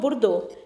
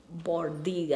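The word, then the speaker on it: Bourdieu: Again, to quote Burdo, it is not space which defines Bordi, I think is the right pronunciation. I always call him Burdo, so you'll have to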